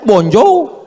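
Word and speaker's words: bonjour: Tulisannya bonur bacanya bonjou.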